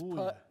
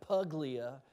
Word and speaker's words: Puglia: Actually, it's Puglia. Puglia. That's how you spell it.